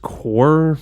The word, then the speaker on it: Corps: am now told that Corps is pronounced core because English is a made-up language.